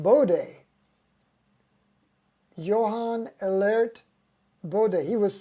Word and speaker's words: Bode: says my kind of guy woohoo oh it's pronounced Bode Johan alert bod he was so alert he